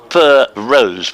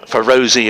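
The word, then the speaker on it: Feroze: for rose fero zeddy is pronounced fur rose without a pause so for rose rather than for rosie or other such variations thank you for that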